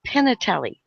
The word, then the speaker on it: Pignatelli: last name is pronounced Pinatelli or Pinatelli. depending on, I guess, where you're from. So it's like P-I-N-A. You don't say the G.